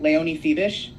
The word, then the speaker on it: Leonie Fiebich: or nay on if I'm saying it right Leon feish yeah yeah that's good correct correct me I